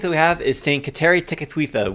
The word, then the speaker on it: Kateri Tekakwitha: The first saint that we have is Saint Kateri Tekakwitha, which apparently is pronounced in the Mohawk. It's pronounced Gaderi Degagwita, which I am going to completely fumble over, so bear with me with that.